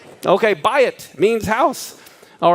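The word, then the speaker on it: בית: says what buy it right that's how you pronounce this buy it okay buy it means house all right and if you'll notice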